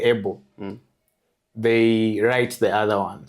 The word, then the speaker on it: Abel: So it's actually pronounced Able. But when I go to like government places or technical places where the name has to be spelled right when I say Able they write the other one.